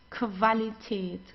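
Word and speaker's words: Qualität: Whenever you have a Q and Q together, you pronounce it as like a K and W together like German W. Okay. So we don't say because many people say but it's not it's okay. So like in English it's quality but we don't have this in in German. Okay. It's qualitate qualitate and quantitate the quantitate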